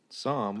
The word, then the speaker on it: Psalm: and Chicago West and Psalm West is that how you say it Sam what has it spelled p-s-a-l-m not the Bible yeah yeah so